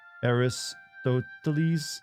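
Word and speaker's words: Αριστοτέλης: Statue of Aristotle and I apparently it is pronounced aristotles which confused me for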